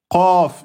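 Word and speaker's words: ق: Eh bien, pour trouver la lettre Qaf, eh bien, vous allez plus au fond.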